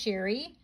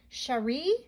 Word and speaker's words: Cherie: your family from oh it's not pronounced sherry cherie cherie sheree miller p.s i've enclosed